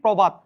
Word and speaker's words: প্রভাত: ওকারান্ত হয়ে যাবে এখানে লিখছি প্রভাত শুরুতে অ এর সাথে যদি রফলা থাকলে এটা ওকারান্ত হয়ে যাবে প্রভার প্রভাত তাইলে প্রহার